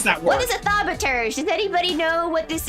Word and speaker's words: thaumaturge: Apparently thaumaturge is how you say it.